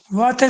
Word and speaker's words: वातः: वातः त का जो उच्चारण है वो स्पष्ट नहीं था, ऐसे लग च बोल रहे हो।